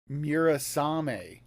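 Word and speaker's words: Murasame: Mura. How do you spell that?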